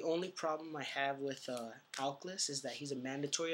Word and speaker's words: Aklys: So next we run 3 Aklys. Yeah, that's how you pronounce it, Aklys.